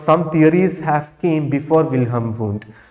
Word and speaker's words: Wilhelm: as wilhelm wundt okay your h is silent or you can pronounce like anything william or wilhelm who is father of